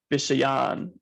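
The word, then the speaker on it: viṣayān: One thing I will say about the last pronunciation of the last line, the second A on Vishayan is exaggerated, so it's more like Vishayan upasevate.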